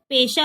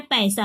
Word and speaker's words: पैसा: यहाँ पे पेशा हो गया, यहाँ पे पैसा हो गया। तो दोनों के शब्द में क्या फर्क है, पेशा और पैसा। तो उच्चारण कैसे, पेशा पैसा, पैसा पैसा, पैसा पैसा, समझ में आया आपको।